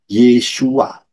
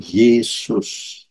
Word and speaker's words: Yeshua: mau masuk pintu keselamatan harus melalui Yod Shin wau Ayin bacanya yesua bukan Yesus itu sangat jelas ya